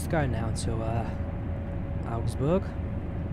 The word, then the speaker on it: Augsburg: go now to uh augustburg how does that pronounce augsburg ausbook augsburg i think it's the uh correct way to pronounce it uh did salzburg have